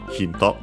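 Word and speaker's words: ヒント: Let's see its accent. Yes, it's accented as expected, just like in English, so the first syllable, hinto.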